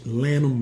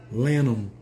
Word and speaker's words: Lanham: Miami Florida team sag Lanham Maryland you know I know how to pronounce that did you Lanham is not Lanham I know some people probably pronounce it like that too okay why are women